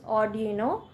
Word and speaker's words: Arduino: Nenu chusina, I mean nenu check chesanu, konni Arduino antunnaru, konni Arduino ani ala koncham antunnaru. So I will pronounce it as Arduino programming, and let's start.